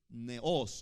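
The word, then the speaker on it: νέος: Esa palabra se aplica en el griego neos, con acento en la O.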